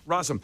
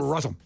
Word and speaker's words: Rossum: Rossum. Say it fast, like Worcestershire sauce. Rossum.